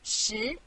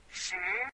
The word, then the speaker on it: 十: This is its syllable, 十. Repeat after me, 十. 十.